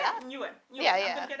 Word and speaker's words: Nguyen: Okay, so the G is silent because there's a G there, isn't it? Yeah, so if you can imagine it spelt like, in your mind, you can spell like Newin, so Nguyen.